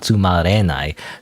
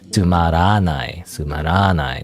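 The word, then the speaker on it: tsumaranai: Okay, so not tumarenai. Tumaranai. That's what it was.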